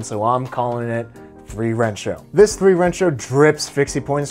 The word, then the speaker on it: 3Rensho: And before you comment, I know it's pronounced San Rensho in Japan, but I'm speaking in English and they use the Arabic numeral in their name, so I'm calling it 3Rensho.